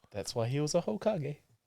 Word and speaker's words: Hokage: You pronounce the H? Do you? I don't. Yeah. Please say it. Okage. Because I think Hokage is disrespectful. Please say it. Okage. He ain't no ho. With an H. Okage. With a H. No, with a silent H.